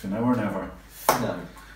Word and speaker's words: Finau: Finau.